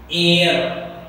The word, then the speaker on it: heir: एयर pronunciation check करें बेटा, H is silent, air means owner, successor, यहाँ पर H is